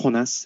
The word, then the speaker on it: Jonas: It's pronounced Jonas. Thank you very much. Say that again. My name is pronounced Jonas. It's in Spanish.